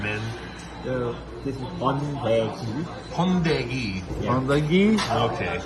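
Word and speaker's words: 번데기: my pronunciation, Min? This is Hondei.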